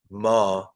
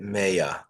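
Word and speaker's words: מאה: So don't read it ma, read it maya. Don't read it what, read it maya. It's a similar word. We'll see there's a difference. Ma is spelled mem hey, means what. Maya is spelled mem with a hey, but in between the mem and the hey, there's an aleph, the letter aleph. So read it 100. Maya means 100.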